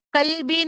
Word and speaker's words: قلبي: ربيع ربيع قلبي Qalbi nahi hai, astaghfirullah al-azim. Qalbi, qaf, قلبي qaf is the heavy letter. Qa, qalbi.